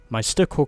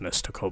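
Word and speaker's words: Mystikal: We also get my Stickle car, which I think is meant to be another one. I think it's pronounced Mystical, by the way.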